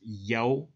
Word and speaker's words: Yah: According to Strong's Hebrew 3050, it defines Yah in Psalms 68 verse 4 as YAW phonetically, a short form of Yehovah, which means the self-existent or eternal one.